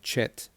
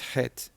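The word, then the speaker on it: חית: But the unfortunate thing is people mispronounce it and they end up saying chet, and it's not chet, it's het.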